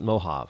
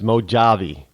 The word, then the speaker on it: Mojave: Rush limbo's R Linda if you sound it the way it's spelled it's mojavi mojavi mojavi desert uh